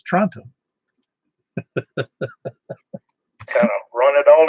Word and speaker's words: Toronto: Well, if anybody, I grew up about 90 miles from Toronto, and everybody in the planet would call it Toronto, Toronto, Toronto, except that's not how they pronounce it. It's Toronto. It leaves out everything.